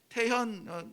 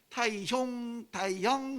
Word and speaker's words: 태현: 사람들 외국에서 있을 때는 태현, my name is 태현 하면은 정말 기분이 나쁠 만큼 이 표현을 이상하게 해요. 뭐 타이형 막 이러면은 발음이 안 돼서 그러는 건데 내가 기분이 나빠요.